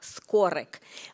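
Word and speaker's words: Skoryk: Another anecdote I like to tell about Skorik, in Ukrainian language, we have this rolling R. So it's supposed to pronounce Miroslav Skorik.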